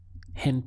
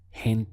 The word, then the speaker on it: gente: people in Spanish is hint there we have a strong H sound here hint there and this is